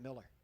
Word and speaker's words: Mueller: Bill Miller but he he's one of those who spells it Mueller and pronounces it Miller yeah sorry my uh